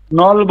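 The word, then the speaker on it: 넓어: নলব। নলব। নলব। কেন নলব হবে? কারণ এই যে ইয়ং আসার কারণে এটা উপরে চলে যাবে। জি স্যার। বুঝতে পারছেন? এখানে উচ্চারণ হয়, এখানে ব উচ্চারণ হবে। নলব।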